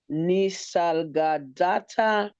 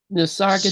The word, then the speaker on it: Nisargadatta: It is by Sri Nisargadatta Maharaj. Nisargadatta.